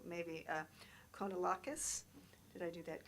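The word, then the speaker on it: Kounalakis: I'm going to pronounce her name wrong, maybe Konalakis. Did I do that correctly? I don't know. Look at Sandra. Probably Lieutenant Governor of California. Yes. So Konalakis.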